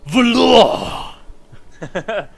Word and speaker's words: Valor: But instead of it being pronounced Law as in L-A-W, it's Law as in L-O-R-E. Oh, that's so cool. Technically, I am now Valor!